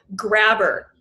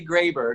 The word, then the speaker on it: Graber: So I know it's Graber. I've known since day one. What's the most common mispronunciation of your last name? Grabber. So I grab people.